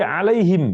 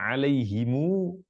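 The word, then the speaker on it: عليهم: Alfatihah atau yang lainnya alaihim kita baca alaihim bersukun mimnya riwayat yang lain baca alaihimu pakai e pakai panjang MU diomahkan mimnya dan baca panjang qirat yang lain baca alaihum alaihum bukan him kita baca him sebagian baca Hum sebagian baca alaiimu ini dialek tidak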